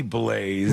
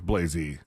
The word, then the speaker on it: Blayzee: Is that pronounced Blazy or Blaze? It might be Blaze. No, if there's two E's. If it's spelled Blayzee, it's Blazy. Blazy is what I'm going to go with because of the extra E.